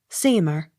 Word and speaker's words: Seymour: m o u r seemer accent on first syllable s t r a